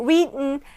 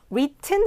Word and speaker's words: written: 그래서 여기서도 written, sentence의 t가 먹는 발음이 나듯 똑같죠. written 해도 되지만 written, 쓰여진.